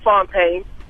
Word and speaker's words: Fontaine: every time I call all right well it's Fontane Opie he said it